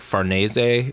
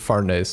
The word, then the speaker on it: Farnese: I looked up like an Italian pronunciation. It's like Farnese, so I've been trying to do that.